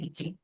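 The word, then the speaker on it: 一: जब भी आपके सामने एक की कांजी है, कि अभी हमने पढ़ा तो है ना कि एक को हम बोलते हैं इची।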